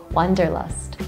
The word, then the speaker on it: Wanderlust: Instead of saying V, we say the W, Wanderlust.